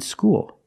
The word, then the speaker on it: school: L's are different there when you said School you Ed the dark L cuz the L is at the end of the word after vowel school and when you